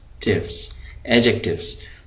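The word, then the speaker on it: adjectives: यहाँ पर जो डी है, ये डी है आपका साइलेंट, यानी इस डी को पढ़ते हुए आवाज़ नहीं आएगी। इसको हम पढ़ेंगे नहीं, लिखा जाएगा, पढ़ेंगे नहीं। तो यहाँ पे आप देख रहे हैं, इसको हम पढ़ेंगे एडजेक्टिव्स।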